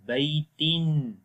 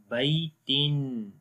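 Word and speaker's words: بَيْتٍ: Similarly the last one, Baitin, and the second Kasrah is of a Noon Sakin, and then it will be Baitin. So here you see Da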